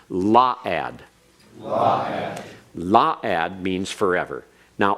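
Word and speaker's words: la'ad: eternity La ad or excuse me that's the pronunciation correct on its law ad law ad means forever now Olam can mean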